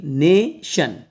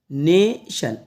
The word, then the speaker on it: नेशन: इनकी प्रैक्टिस कीजिएगा देखो इसको क्या पढ़ेंगे नेशन नेशन एन ए ने और टी आई एन को पढ़ेंगे शन तो क्या पढ़ाया जाएगा इसको नेशन नेशन अभी ट्रांसलेशन में आपको